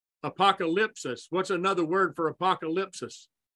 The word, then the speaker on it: apokalupsis: Apokalupsis, what's another word for apokalupsis? Our proper pronunciation is apokalupsis.